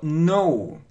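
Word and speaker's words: know: или пройдем это слово но у пишется вот так ай ноу ай ноу ведь здесь нужно запомнить что это буква кей не читается вначале вот эта комбинация к таки и.н.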